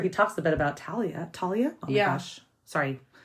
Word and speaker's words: Thalia: I call her Thalia. Oh, wow. Okay. I pronounce the TH.